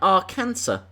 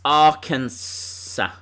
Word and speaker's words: Arkansas: You don't pronounce the last S in Arkansas. What's it called then? Arkansas.